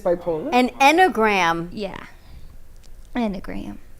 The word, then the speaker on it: enneagram: poland an enneagram yeah endogram that's how you say it e-n-n-e-a-g-r-a-m i've never heard of